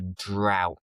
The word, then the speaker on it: drought: A long period without rain is known as a drought. Careful with the pronunciation.